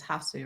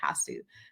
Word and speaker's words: Hasu: can't claim that it has one pronunciation. But yeah, Okay. Hasu is how I would imagine it in my mind.